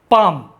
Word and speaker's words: palm: L silent, PALM, पाम, Hindi में पाम यानी हथेली।